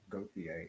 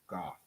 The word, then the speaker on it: Gauthier: It's not Gauthier, it's Goth. He's saying just as Goth.